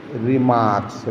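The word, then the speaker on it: remarks: चलिए, यह रिमार्क से लिखा है।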